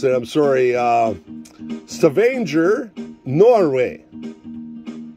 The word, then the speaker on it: Stavanger: How do they pronounce it? I'm sorry. Stavanger, Norway. Stavanger, Norway.